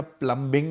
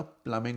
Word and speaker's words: plumbing: अच्छा, प्लम्बिंग नहीं होता, प्लमिंग होता है, बी साइलेंट होता है, ओके, ये ज़रा जहन में डाल दें।